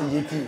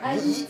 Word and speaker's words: Haïti: Attention, Yeti, c'est pas chez nous. C'est Nous, Yeti. Yeti. Haïti. Haïti. Haïti, d'accord. Haïti, Ah parce bah voilà. que ça s'écrit comme ça en créole, c'est A-Y-I-T-I.